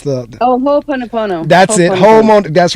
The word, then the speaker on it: Ho'oponopono: It's the Ho'oponopono.